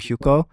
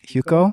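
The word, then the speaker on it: Hyukoh: it out um there's some Korean artists named huko spell it please h y u k o h okay H huko yeah they made an album recently with another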